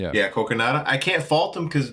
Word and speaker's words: Kogonada: And direction, like um how do you pronounce his name again? Kogonada? Kogonada. Yeah. Yeah, Kogonada.